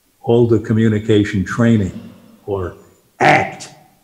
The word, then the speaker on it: ACT: Alda Communication Training, or ACT. You got to say it like that.